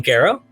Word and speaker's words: Garrow: and with that our guest is dr alan garrow am i pronouncing your last name correctly that's right yeah